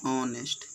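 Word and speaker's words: honest: Sound नज़दीक वाला लेता है, लेकिन आता किसके लिए है, नाउन के लिए, तो इसे क्या भराएगा, एन भराएगा, क्योंकि ओ होता है इसका उच्चारण, ऑनेस्ट, तो इसलिए क्या भराएगा, इसमें एन भराएगा।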